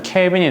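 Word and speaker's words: Kelvin: 용도로 사용하는 좋은 단위가 대문자 K로 표현이 가능한 읽을 때 케빈이라고 읽으면 되는 단위가 있거든요.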